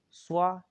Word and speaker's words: ص: Swa is spelled SHWA Mhm. and is bold.